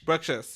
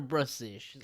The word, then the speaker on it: Bruxish: Bruxish, yes. Bruxish or Brussish? I know some people. I know the X can be pronounced X or Z.